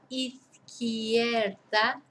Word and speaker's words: izquierda: So here we've got izquierda. 4 syllables. Izquierda. So remember that the QU is a K sound.